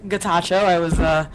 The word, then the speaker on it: Getachew: And I'm sure you will clarify the pronunciation of your name. Morning. Good morning. It's Getachew.